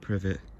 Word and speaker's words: privet: our golden private website i thought was called golden private well i guess pronounced privet it's getting leaves on